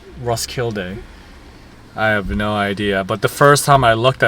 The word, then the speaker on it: Roskilde: day and we just got to Rocklide or Roskilde actually is how you pronounce it. I actually don't know how to pronounce this town. Rossky. Ross Kyle. Rosskilde.